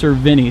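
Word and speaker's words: Cervini's: And by the way, it is pronounced Cervini, so if I said Cervini, that was my fault.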